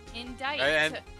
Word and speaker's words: indict: pronounce that word IND it's spelled i n d i c uhhuh the C is silent and the t is silent indict indict and the I is long for no reason just two consonants after English is stupid unfortunately it's